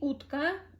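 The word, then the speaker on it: утка: that um utka utka as you see utka you pronounce sound o for like maybe 3 seconds for maybe one to two seconds letter k for one to two seconds ah ah is very short because it's at the end you you don't really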